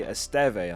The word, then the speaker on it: Esteve: Firstly, Esteve, I think it's pronounced. It's not Easy Steve.